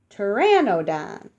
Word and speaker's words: Pteranodon: land and the creek you say it like this tear in ode on tear and no done Pteranodon Pteranodon flew on wings